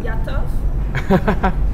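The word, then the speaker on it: готов: Gotov. Gotov?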